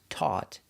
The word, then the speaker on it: taught: It's the sound aw, like ball and call.